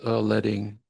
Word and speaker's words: leading: Is it leading or letting? Anybody know? It's letting. It is letting.